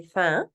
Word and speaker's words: faim: Remember, we don't really pronounce that M, so it just kind of goes j'ai faim.